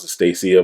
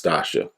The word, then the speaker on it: Stacia: um you got estacia i i want to pronounce the stacia but it's tasha tasha okay so she